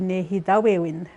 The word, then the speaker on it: nêhiyâwewin: Some of them will be saying nêhiyâwewin, like, you know, really fast on it. And then the other, I can say I said dialects, I guess would be nêhiyâwewin. That's how they say it in the TH dialect.